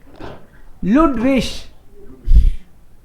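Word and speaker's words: Ludwig: जी last में आए आई जी के कॉम्बिनेशन में तो क्या पढ़ते हैं? इश पढ़ते, तो वो क्या हो जाएगा? लुडविश, लुडविश।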